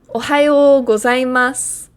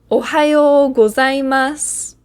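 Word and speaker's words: ohayō gozaimasu: Ohayo gozaimasu.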